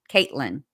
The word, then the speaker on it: Katlyn: Um I think it's K A T L Y N. I'm like 99.9% sure. I've seen it that way several times because I keep having to correct myself when I write. And real me too says it is Caitlyn.